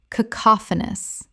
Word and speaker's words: cacophonous: Common mispronunciation, cacophonous. Correct pronunciation, cacophonous. Four syllables with the stress on the second.